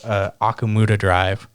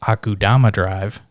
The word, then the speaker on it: Akudama Drive: we had went over, which was I called Akumuda Drive, which was also another gang-based one. I haven't watched that yet. I want to watch it. It's actually pronounced Akudama Drive because I know how to read, and thank